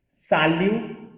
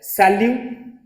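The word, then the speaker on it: salut: तो देखो पहला सैल्यू, ये टी प्रोनाउंस नहीं होगा क्योंकि वॉवल के बाद आ रहे। सैल्यू, जमापेल, हमेशा फ्रेंच में याद रखना एक साथ वर्ड को रीड करते हैं, जमापेल, जमापेल, ओके।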